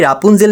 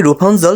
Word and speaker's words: Rapunzel: colour করা তার আগে রাপুঞ্জেল নাকি রুপাঞ্জল সেটা বলি ইংরেজি ল্যাঙ্গুয়েজে অনেকেই দেখা যায় স্পেলিং অনুযায়ী প্রোনাউন্সিয়েশন সবসময় হয় না এটাতেও তাই আর এ দিয়ে শুরু হলেও রাপুঞ্জেল না হয়ে রুপাঞ্জলি হবে মুভিতেও রুপাঞ্জলি বলে যারা